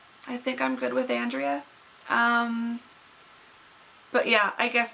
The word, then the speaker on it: Andrea: you pronounce it so i tend to pronounce it Andrea but you can also pronounce it Andrea Andrea aundrea and my typical response to people is you know I respond to however whatever pronunciation um and it really depends on what part of the world you're from and well language you speak and if I could